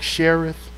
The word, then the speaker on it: Cherith: When he had to go by the brook Cherith, that's how you pronounce it.